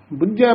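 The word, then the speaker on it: ਬੁਝੈ: हुक्म है जे बुझे, बुझे पद जेड़ा है ये कस के उच्चारण करना है, समझन दा वाचक है।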